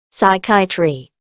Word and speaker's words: psychiatry: 물리 생리의 피지오와 학문의 로지가 결합한 용어 생리학 피지올로지 다음은 PS 용어가 PS로 시작하면 P가 무음이 돼 S로 발음해 줍니다. pyetry psychiatry pyetry 정신 위학 다음은 PT 용어가 PT로 시작하는 경우는 PS로 시작하는 경우와 마찬가지로 P가 무음이 되어 T로 발음합니다.